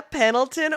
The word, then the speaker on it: Pendleton: It's a hard D.